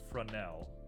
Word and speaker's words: Fresnel: Fresnel, as it's meant to be pronounced.